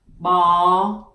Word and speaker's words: bò: And the next one that I want to teach you, it is called pho bò viên. Pho bò viên, it is the meatball pho. Pho bò viên. And to pronounce bò, you pronounce b.